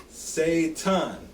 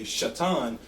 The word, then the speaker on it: Satan: Testament and then and if you look at the pronunciation guide in the strongest concordance is pron ounc Satan now most a lot of Hebrew people also say shatan but in the strongest concordance it literally says Satan okay and we say